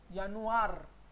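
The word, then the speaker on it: Januar: यानुआर. आर को normally र पढ़ना है, बट इफ are comes at द एंड you will read अर. तो यानुआर. यानुआर.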